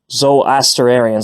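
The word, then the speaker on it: Zoroastrian: with Jewish interaction with zarian Z asarian that's how you say it sorry and I hadn't pronounced it correctly before and previously and I do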